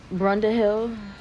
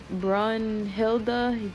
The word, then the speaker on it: Brunhilde: But now Buddha is up to fight, and um Brunda Hill, what's her name? Yeah, Brunhilde. There we go.